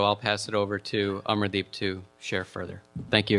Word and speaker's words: Amardeep: Coalition, and so I'll pass it over to Amardeep to share further.